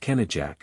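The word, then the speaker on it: Kenidzhek: the solitary dreary Kar known as Kar kenek pronounced kenjac which means the hooting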